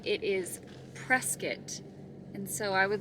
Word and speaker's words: Prescott: Firstly, I have been mispronouncing the name of this city. How about I've been calling it Prescott. It is not Prescott, it is Prescott.